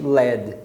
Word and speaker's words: Led: um detalhe é que eles escreviam sem o ar né descrever 1l de que era para não ter confusão com a pronúncia para todo mundo pronunciar realmente LED então o mesmo LED